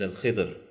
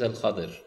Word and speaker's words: Al-Khadir: And just pointed note that it is very widespread and famous among people that his name is Al-Khidr. As it's an alternative pronunciation, but the pronunciation according to the ahadith of the Prophet ﷺ is Al-Khadir.